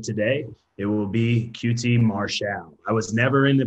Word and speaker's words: Marshall: what other people think that is my name that's how we're going to pronounce it it's not your fault you didn't know the record has been corrected qt martial well thank you for